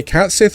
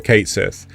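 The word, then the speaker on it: Cait Sith: Uh after a little while, a pregnant um Katesith I I don't know if people say Cats Sith or Kate Sith um but I think it's pronounced Kate Sith.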